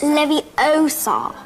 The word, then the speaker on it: Leviosa: you're saying it wrong it's Leviosa not live you sob you do it then